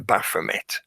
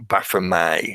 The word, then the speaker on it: Baphomet: The Templars are often accused of worshipping the Baphomet, or Baphomet, however you choose to pronounce it, because it's a French root word. So sometimes the T isn't pronounced, but they were accused of that.